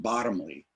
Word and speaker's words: Bottomley: him and jacob uh it's pronounced bottomly probably because that's how george fox spells it when he refers to